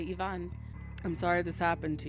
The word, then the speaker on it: Ivan: me I don't know eyes are pronounced as ease unlike in American I guess other places you don't say Ivan you say Yvonne I'm sorry this happened